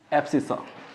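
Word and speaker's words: abscissa: क्या बोलते हैं इसको एसस सॉरी स्पेलिंग मिस्टेक हो गया इसमें इसको बोलेंगे एसिस तो ए बी एस सी I double S ए एसस यानी कि एक्स कोऑर्डिनेट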